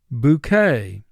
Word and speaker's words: bouquet: Bouquet. Bouquet, 2 syllables, first syllable boo, 2 sounds, b, oo. K, 2 sounds, k, a. Bouquet.